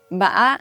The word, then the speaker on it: bã: These are the flat tone, ba, the low falling tone, ba, the asking tone, ba, the tumbling tone, which is pronounced with a little bit of a glottal stop, ba, then the high rising